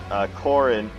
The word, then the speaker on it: Corrin: Okay, and then Conquest, in that game, the main character is Corrin, who rhymes with Gordon, right?